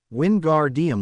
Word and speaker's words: Wingardium: It's Wingardium Leviosa. Make the gar good and long and put the stress on the o in Leviosa, not the a.